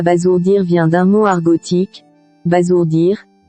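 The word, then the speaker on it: abasourdir: Retenons donc que Abazourdir est bien différent de sour, c'est pourquoi sa prononciation diffère de celle des autres. Le vocable à bazourdir vient d'un mot argotique, bazourdir qui signifie tuer.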